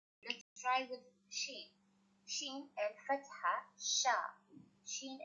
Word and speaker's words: شين: The pronunciation of sheen is sha or ish, sha or ish.